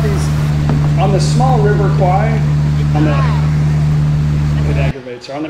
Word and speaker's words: Kwai: is on the River Kwai. It's Kwai. So if you go there, Thai people get irritated when the foreigners say Kwai, but it's spelled Kwai. Why don't they spell it Kwai?